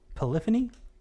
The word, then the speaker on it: Polyphony: how do you spell how do you say this is it polyphony yes okay mm-hmm that's what i thought it was a robin said i